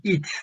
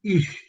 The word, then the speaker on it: ich: Tadi kalau saya, tapi kalau misalnya saya itu bacanya bukan ich tapi ih.